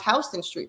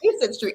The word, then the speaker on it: Houston Street: So I think some people who come to New York, they're taken aback because they can't even pronounce Houston Street; they'll pronounce it Houston Street, right?